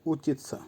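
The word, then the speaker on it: учить: করা বা স্টাডি করা আবার বলছি উচ্চারণ হবে উচিত ভার্ব বিচ বিচ এর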